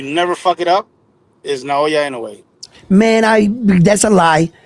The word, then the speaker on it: Naoya: He said it's Naoya. He put now and then Oya. His last name is Ain't No Way.